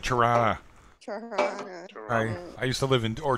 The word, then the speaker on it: Tirana: you tried out Rana you gotta say it right Tirana I live in door